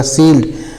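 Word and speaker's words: shield: आई ई एल डी एस एच आई एल डी तो एस से बड़ा स होता है और आई से बड़ी की मात्रा हो जाएगी इ साइलेंट हो जाएगा डी है तोल ड हो जाएगा सील्ड सील्ड मीस होता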